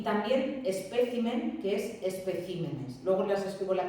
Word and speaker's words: especímenes: Sigue siendo esdrújula, pero he movido la sílaba tónica. Y también espécimen, que es especímenes.